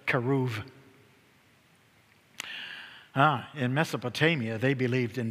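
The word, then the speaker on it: כרוב: Hebrew, keruv. And if B is preceded by a vowel in Hebrew, we pronounce the B as a V, V, keruv.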